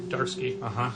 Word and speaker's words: Zdarsky: it in some dutiful say that the Z is silent so it's just chip darsky it's not uh it's